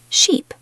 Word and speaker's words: sheep: Ship, sheep. Ship, sheep. Good. The first one has a short I sound, the second has a long E sound.